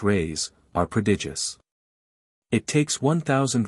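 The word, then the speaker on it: reis: the Portuguese pennies or Reese pronounced rays are prodigious it takes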